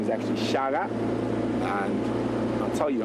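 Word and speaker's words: Shaka: an offshoot of the Zulu Nation Under King Shaga so quite often everyone refers to Shak where is spelled s h a k a but Zulu a is pronounced as a g so his name is actually Shaga and I'll tell you how he got his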